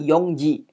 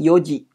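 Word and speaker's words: 四時: Nah, kalau untuk jam 4 bukan yongji. Ya yong kan 4. Bukan yongji tapi yoji. Jadi sedikit berubah di situ ya.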